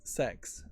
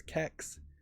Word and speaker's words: CEX: Well, yeah, I wouldn't really ever pronounce it as a United Statesian as sex, spelled CEX. If I was being really silly, I might pronounce it with a hard K sound as kex.